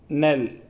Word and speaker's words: knell: एंड the third word is नेल, के silent रहेगा इसमें, NELL, नेल, KNELL, नेल इज a noun, it's Hindi meaning is समाप्ति, and final blow, आखिरी झटका हवा का।